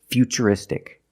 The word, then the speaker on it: futuristic: And we see T-U-R-I in futuristic. Again, the T is pronounced with the ch sound. So the first word, future, and the second word is futuristic.